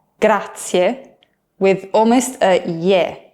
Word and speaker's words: grazie: But in Italian, we say, sì, grazie, which literally means, yes, thank you.